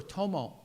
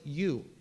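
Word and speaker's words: 友: is the character for tomo and Tomodachi so I looked it up Tomo is the Japanese pronunciation of this character it means friend and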